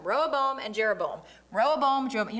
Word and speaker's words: Rehoboam: Don't mix them up. Rehoboam, Jeroboam. Rehoboam, I said it wrong the first time. Rehoboam and Jeroboam.